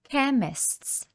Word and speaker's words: chemists: новим словам pharmacy або chemists перекладаємо як аптека Зверніть увагу що C + H у слові chemists не читається як ч а в даному випадку читаємо звук к також ви можете зустріти